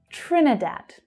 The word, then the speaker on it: Trinidad: Trinidad. So that's all short vowel sounds.